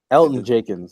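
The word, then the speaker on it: Elgton Jenkins: Elton Jenkins. Yeah, there you go. The G is silent.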